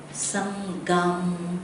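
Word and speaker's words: saṅghaṃ: And then the sangham, also GH. There must be the kind of like A coming from the chest.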